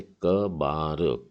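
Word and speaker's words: כְּבָר: तो इसमें है काफ, और नीचे दो बिंदु है, मतलब उच्चारण क है, और बेत के नीचे आ की मात्रा है, मतलब हो गया बा, और आखिरी अक्षर है रेश।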